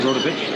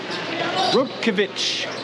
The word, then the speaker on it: Rodkovich: I'm saying that name wrong. It's not Rodovich. I'm adding letters. My mistake. Rodkovich. The right pronunciation, I do believe.